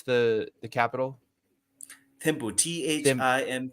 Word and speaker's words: Thimphu: Yeah, So so the capital what it, and I don't it's how do you pronounce the capital? Thimphu, Thim Thimphu. Thimphu.